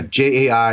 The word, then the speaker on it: Jai: of his name Michael Jai White I think it's I think you say his name wrong yeah jei white yeah yeah that's that is his name okay he is amazing